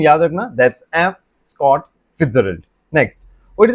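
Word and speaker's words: Fitzgerald: That's F Scott फिट्जजेराल्ड। किसने लिखा है? F Scott फिट्जजेराल्ड।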